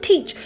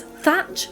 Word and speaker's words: Teach: So most refer to him as Edward Teach, but he's also been pronounced as Thatch, Thack, Thack, Thack, Tack, Thatch, and Theach.